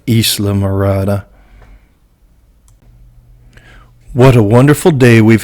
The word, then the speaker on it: Islamorada: a big chuckle of trying to pronounce isle morata but it really makes more sense when you pronounce it in its spanish origins of islamorada what a wonderful day